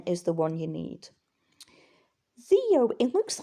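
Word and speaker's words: δύο: Theo in modern Greek because the D is more a the and softer and the opson is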